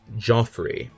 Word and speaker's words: Geoffrey: be exactly a minute to answer that question g e o FF r ey how do you pronounce that the answer is of course Joffrey and you may say no it's Geoffrey well